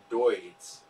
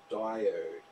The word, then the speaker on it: diode: remember telling my uncle that I learned about deuts and he had to correct me and tell me that the correct pronunciation is diode sir not that lesson when I was about 10.